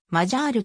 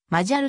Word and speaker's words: Magyar: などにおいてマジャールと謝ってカタカナ表記されているものが見られるがどのボインも伸ばさずま jal と表記発音するのが正しい方から表記と